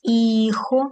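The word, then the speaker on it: hijo: Педро маус іхо. Х не читається. Іхо де ун аман і унаспаньола.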